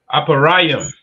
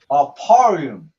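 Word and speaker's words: אפרים: How do you say Ephraim in the Hebrew? You can call it out Aparayim. Aparium, right? Which is A Pa Ra Yum.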